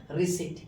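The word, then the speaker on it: receipt: जैसे देखिए अब यहां आपका पी साइलेंट है। अब इसे रिसीप्ट नहीं पढ़ के क्या पढ़ेंगे? रिसीप्ट। राइट प्रोनंसिएशन क्या होगा? रिसीप्ट।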